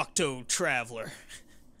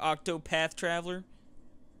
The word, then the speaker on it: Octopath Traveler: Octo Traveler. Or you said it wrong. Octopath Traveler.